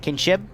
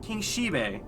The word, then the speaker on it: King Shibe: Yes, King Shib? Is that how you say it? King Shibe. Like King Shibe. Shibe, Like the dog.